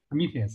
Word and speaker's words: Prometheus: work on the premier uh prises hope I pronounce it right so these are a monitoring framework uh Prometheus Prometheus yes exactly so on kubernetes and they I